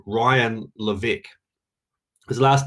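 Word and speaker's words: Levesque: in the direct response marketing world called ryan levick his last name is spelled l-e-v e-s-q-u-e he has a technique called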